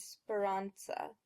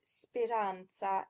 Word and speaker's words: speranza: When you look at these words, keep in mind the 7 Italian vowels. That will help you get the correct pronunciations, which are rispondi instead of rispondi, avanza instead of avanza, soccorso instead of soccorso, and speranza instead of speranza.